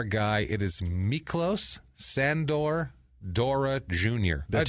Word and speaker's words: Dora: better known as Mickey Dora okay Mickey Dora he's a d o r a d o r a like the Explorer expor like the Explorer